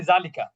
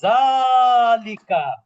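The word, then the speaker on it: ذَٰلِكَ: কোন আলিফ নাই এজন্য আমরা অনেকে বলি জালিকা আসলে জালিকা না এটা হবে জালিকা কি হবে মাদ হবে যেমন কোরআনের সূরা বাকারার কিতাবুলাইবাফ জালিকাল কিতাবুলাবা বুঝতে পেরেছেন আচ্ছা তাহলে আমরা কি শিখলাম যে জালিকার উচ্চারণটা কি হবে জালিকা কি হবে নাজ হবে।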